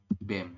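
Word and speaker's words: 뱀: betul ya dibacanya adalah BEM seperti ini ya tulisannya baem tapi dibacanya BEM bisa ya teman-teman Jadi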